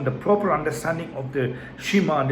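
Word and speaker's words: שְׁמַע: 6 verses 4, as Shema, Shema, Shema, which is how the first word in Hebrew text is pronounced.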